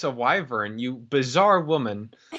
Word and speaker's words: wyvern: with vern everyone in my family pronounce it pronounces it waverin i have never heard a waverin i kind of dig it but i've always always always heard wyvern what what i have always always always heard